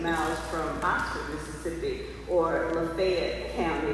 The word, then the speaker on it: Lafayette: Water Valley is located about 18 miles from Oxford, Mississippi, or Lafayette County. They pronounce it Lafayette in Mississippi versus Lafayette in Louisiana.